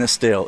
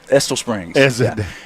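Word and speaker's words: Estill Springs: They live in Estelle. It's actually Esto Estole Springs.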